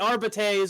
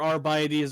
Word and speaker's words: Arbites: The Arbites or Arbites or Arbites, there's never been official pronunciation, are essentially military police.